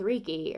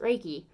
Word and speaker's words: Reiki: you go to like yin yoga with reeky or Reiki or however you want to specifically pronounce it I pronounce it Reiki so if you go